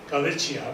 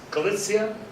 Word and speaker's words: Galicia: See, I see the CIA. I think of the Italian name, Galicia, but it's Galicia. Anyway, Leon, Navarre, Aragon.